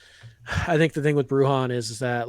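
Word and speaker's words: Bruján: insurance I think uh by the way it's pronounced brujan yeah I think the thing with bruhan is is that like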